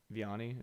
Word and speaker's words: Vianney: Vianney, is that how you pronounce it?